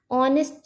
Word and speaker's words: honest: Similarly ऑनेस्ट, ऑनेस्ट जब हम लोग प्रोनाउंस करते हैं तब हम लोग एच साइलेंट रखते हैं, ऑनेस्ट।